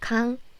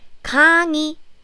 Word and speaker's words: 강의: I said if this 의 sound is in the middle of the syllable, not in the first syllable, then you pronounce it like 이, as in 강의.